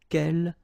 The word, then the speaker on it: quel: good news is that if you listen carefully, quel, quel, quel, quel, okay, so phonetically you get only one form. Of course, when you get this S, well, if you've got a vowel after, then you will have to make this liaison. But then, clearly, the basic form like that, phonetically it's the same, okay?